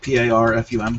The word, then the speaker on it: Parfum: It's spelled with an A, P-A-R-F-U-M, Parfum.